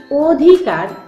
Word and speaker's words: অধিকার: আমি একটাতে বলছি অধিকার তোমরা এখানে দেখতে পাচ্ছ অটা উচ্চারণ অচ্চারণে ঠোঁট ও এর মত গোলাকৃতি হয়ে আসছে এটি হচ্ছে সংবৃত অ তাহলে সংবৃত অ এর